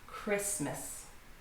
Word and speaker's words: Christmas: So the word Christ is pronounced with the T at the end, but when it's in the middle of the word between these two consonants, it's too difficult to pronounce, so we just say Christmas.